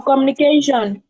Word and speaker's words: communication: It has four syllable and the stress pattern is on the pen ultimate. That's second to last. And second to last is the CA.